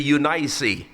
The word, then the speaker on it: Eunice: And another one, yung mother ni Timothy na kung tawagin natin sa ating sariling pagbibigkas ay si Eunice. But sa Bible, ang tawag po dyan ay si Eunice. Okay? Yan po ang Bible pronunciation ng salitang Eunice. It's Eunice. Okay?